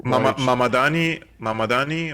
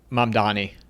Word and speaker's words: Mamdani: I can never pronounce it, but I'm going to look it up while we're Mamadani or something. Yeah, it's Mamdani.